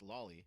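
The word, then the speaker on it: Lawly: This friend of Westerlo is named Lolly. Yes, that's spelled L A W L Y and pronounced Lolly which is frankly fitting for what we're about to hear.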